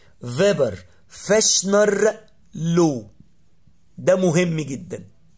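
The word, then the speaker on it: Weber: خلي بالك دايما في الالماني الدبليو تتنطق في، فيبر فاشنر لو، ده مهم جدا، فيبر فاشنر.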